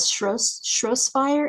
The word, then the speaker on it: Shropshire: Shropshire, England? Is that right? Shropshire.